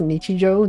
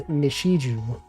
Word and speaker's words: Nichijou: You know, I heard someone once pronounced Nichijou, the anime, as Nishiju. They were not familiar with Japanese. They saw the spelling.